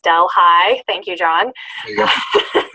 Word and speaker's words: Delhi: He graduated from State University of New York at Delhi, pronounced Del High.